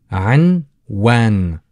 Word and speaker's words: عنوان: So we've got anwan. Anwan. Anwan. Anwan. Anwan. So the letter ayn is a little bit difficult for you. As again, as a uvular letter pronounced from the back of your throat.